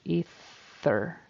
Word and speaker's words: ether: words so um ether ether with a long e and a unvoiced th ether her efforts were not